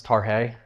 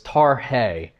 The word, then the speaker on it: Tarhe: And the descendants came and said, you know it's Tarhe? I said, I did not know it's Tarhe. Thank you for that. So we actually did a little video of his great grandson giving how to say it properly. So it's Tarhe.